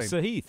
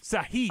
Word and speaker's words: Sahith: Oh, Sahith. Sahith.